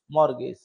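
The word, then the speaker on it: mortgage: हैं क्या बोलते है मगज टी साइलेंट रहती है इसमें टी भी है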